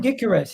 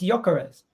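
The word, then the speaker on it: Gyökeres: a g go to why do you call him gares it's yares a gares yares that's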